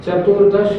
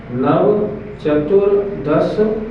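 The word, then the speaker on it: नव चतुर् दश: इस सूत्र के उच्चारण में चतुर्दश नहीं बोलना नहीं तो 14 हो जाएगा। नव चतुर दस ऐसे बोलना पड़ेगा ताकि चार अलग निकले और 10 अलग क्या सूत्र का अर्थ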